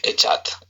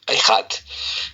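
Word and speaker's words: אחד: palabra ejat, bueno, eh literalmente pronunciada e c h a d echat, pero se pronuncia ehat, que es la composición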